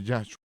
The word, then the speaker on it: Yahshua: Y esa es la razón de por qué debemos pronunciar Yahshua. Toma un poquito de tiempo acostumbrarse a pronunciar el nombre en lugar del nombre más familiar de Jesús, pero cada vez que